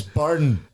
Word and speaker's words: Beirne: my name is spelled yes thank you for pronouncing it correctly it's burden pardon I got brought on as dainty Bean again oh that's quite